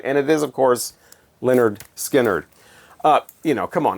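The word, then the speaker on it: Lynyrd Skynyrd: very useful from Leonard skinnard on their debut pronounced Leonard skinnard I shudder to think of how DJs and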